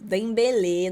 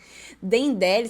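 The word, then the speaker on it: Dembélé: Dembele. Não sabia que se pronunciava assim. Dendele. Será que eu falei Dendele?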